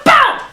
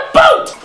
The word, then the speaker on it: about: Canada which means you always hear my favorite mispronunciation V it's about you socially polite freaks it's about a b o u t not a o o t stop saying a boot this is a boot that is about a